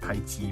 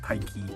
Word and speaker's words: Taiki: wars uh kudo taiki not tai chi but taiki okay so yeah it's